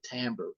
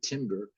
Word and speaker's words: timbre: the pitch and the timbre and so see this word t-i-m-b-r and uh it's pronounced by musicians timbre and sometimes people say timber and but that's not